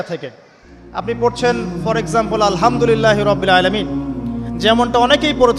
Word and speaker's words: আলহামদুলিল্লাহ: তো আলহামদুলিল্লাহ না বলে সে বলেছে আলহামদুলিল্লাহ, তো যে হায়ের উচ্চারণ পরিবর্তন হয়ে গেছে, এই কারণে অর্থ পরিবর্তন হয়ে দাঁড়াবে যে সমস্ত নিন্দা আল্লাহর জন্যে, যিনি জগৎ সমূহের রব।